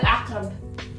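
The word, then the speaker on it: عقرب: Aqrab. Ah, comme on dit, comme quand on dit akarabi. Akarabi. Je te jure, genre. Non. Aqrabi. Oui. Oui, non, mais non. C'est pas ça, d'accord. Non. Aqrab.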